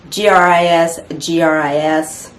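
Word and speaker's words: gris-gris: in this case um it's actually spelled a little bit different but it's pronounced the same gris gris and that has to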